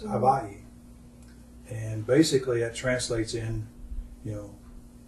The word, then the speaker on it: Hawaii: The natives replied Hawaii, and at that time it was VA. Today we pronounce it as WA, but it's Hawaii.